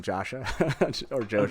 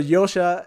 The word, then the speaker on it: Josha: creators have done and everyone's calling him Joshua whatever and yeah that's really guilty of that so Yosha is the way to pronounce it and and from and